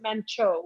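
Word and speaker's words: Manchot: Okay, so when I purchased the business, it was called Mancha, which is the right way to say it is Mancho, which is penguin in French, and I bought it from my friend.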